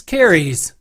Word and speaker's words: Keres: for october should come as no surprise it's carries that's spelled k e e our goddess of death